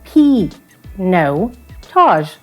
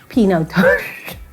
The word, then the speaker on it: Pinotage: certainly proud of but can you say it properly pinatage all i used now guys it's p no taj like yeah pinotage i was going to